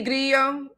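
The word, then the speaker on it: Grillo: That's Brandy Grio Grio Grio if I pronounce it an Americanized way.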